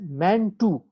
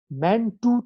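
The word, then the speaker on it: Mantoux: it is pronounced as man 2 man 2 test this x is a silent here man 2 test ok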